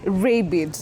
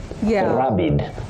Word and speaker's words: rabid: You can say rabid, rabid, and you can also say rabid, rabid.